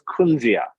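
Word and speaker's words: kunzea: It's known as kunzia.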